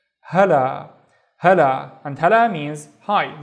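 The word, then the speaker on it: هلا: So the first syllable is ha, and then the second syllable is la. So this is basically la and alif. Hala, hala, and hala means hi.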